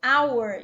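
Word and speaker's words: hour: você da mesma forma o h né que é mudo our então aqui teria que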